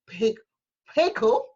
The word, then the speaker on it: Pheko: So without further ado, I want to thank you, Ambassador Mohau Pheko. I'm trying to get that little silent H in there, for joining me from South Africa.